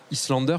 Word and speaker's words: Islander: Alors, c'est Highlander ou Islander, du coup, en termes de prononciation? Islander, plutôt. Ah ouais, c'est vraiment Islander, parce que...